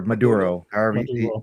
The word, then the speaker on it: Maduro: Nicolas Maduro or Maduro. What Maduro, did you say? Menudo? Maduro. So in our Spanish accents, we would just pronounce it as Maduro, basically. But you can just say Maduro if anything.